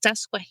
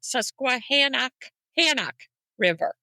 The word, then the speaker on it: Susquehanna: That is because on podcasts, I heard people say, they even call it Hancock. So have you heard that? Susquehannock River. No. Yes. That's, I've heard that on podcasts. And I'm like, Susquehanna. And every time I heard it, I'm like cringeworthy. Like, it's Susquehanna. It's a Susquehanna River. Yeah. We're saying it right. Y'all saying it wrong.